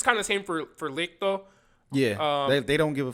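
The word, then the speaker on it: Licht: I was gonna say Licto. Is that his name? How'd you say his name? I was saying Licto. That's how they say in the show. Licto. L-I-C-T-H. L-I-C-T. So Licto.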